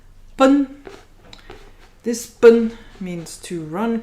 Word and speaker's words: 奔: Information or pronunciation. Bun.